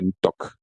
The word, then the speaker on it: Ntok: Anok, le toi du féminin, c'est Ntok. Ntok, Ntok, Ntok. D'autres diront Ntok, Ntok, Ntok. Mais je dis, parce qu'en Afrique, on ne prononce pas les N comme ça. C'est nasal.